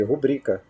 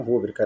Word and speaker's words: rubrica: Como é que a gente deve eh no caso aqui rubrica rubrica e não rúbrica, né? Como é que a gente deve pronunciar, tá?